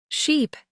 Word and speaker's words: sheep: don't pay attention right ship has a short eye sound sheep has a long e sound they might look similar